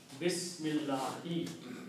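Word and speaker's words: بسم الله: The meaning of this swad is, do not pronounce this alif here. Bismillahi.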